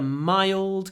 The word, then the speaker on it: mild: soft Britain has a mild climate my try to get this sound before the DU my it's in the throat it's dark L mild climate mild mild